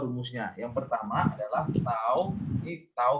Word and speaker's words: tau: Nah, ini lambangnya ya, cara bacanya biasanya adalah tau gitu ya. Tau gini ya.